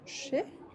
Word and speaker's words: chez: Par exemple, on dira chez. Pourquoi on ne prononce pas le Z? Parce que EZ ensemble, ça crée le son E, chez.